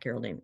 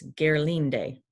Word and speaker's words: Gerlinde: Geraldine, oh, it's not Geraldine, it's Gerlinde. I guess is how you say it.